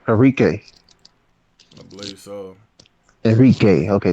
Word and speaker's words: Enrique: Enrique. I believe so. Enrique. Okay, that's how you pronounce it.